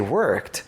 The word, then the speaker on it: worked: When he's pronounced in the past, it sounds like a t. We say worked.